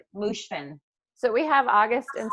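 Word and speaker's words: Moshfegh: Mushfin.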